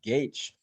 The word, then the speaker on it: Gaich: And remember, that's how his last name is pronounced, Gaich.